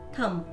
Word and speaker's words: thumb: B is not pronounced in these words. B चा उच्चार या शब्दांमध्ये केला जात नाही. Bomb, climb, comb, crumb, doubt, dumb, lamb, plumber, numb, thumb.